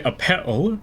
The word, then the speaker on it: Appel: I usually go by Appel, rhymes with lapel.